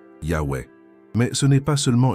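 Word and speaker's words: Yahweh: Le véritable nom de Dieu, tel que le révèlent les sources les plus anciennes et les plus fiables, se prononce Yahwe.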